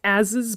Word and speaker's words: asses: as is written out it's pronounced ases but it is spelled asses like assses yes but it's ases oh my gosh yeah